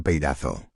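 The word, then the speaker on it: πειράζω: Peirazo que fonéticamente en español se pronuncia peirazo y significa tentar, poner a prueba, examinar para quebrar exousia.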